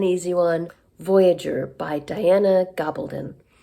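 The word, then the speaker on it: Gabaldon: one Voyager by Diana gobbledon I recently found out that's how she says her name I've been saying it wrong all along um I only just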